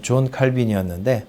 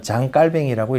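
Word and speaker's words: Jean Calvin: 이자를 공식적으로 정당화한 결정적인 인물은 어 종교 개혁자 제 저희가 공부할 때는 존 칼빈이었는데 프랑스 사람이라고 요즘은 장갈뱅이라고 읽어야 된답니다.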